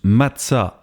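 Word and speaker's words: מצה: Le pain sans le vin se prononce matsa en hébreu.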